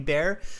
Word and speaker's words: bear: had a cuddly teddy bear and you pronounced it kind of like beer like the drink like drinking beer okay um but i